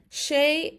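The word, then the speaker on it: sé: She means him in Irish. Now it has a long E and the long E gets an A sound. A, because it's long. So it becomes she.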